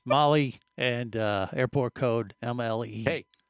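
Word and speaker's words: Malé: Tam Mali, right? Molly. M which is spelled M A L E which is mail. Yes. But it's Mali and uh airport code MLE for the record.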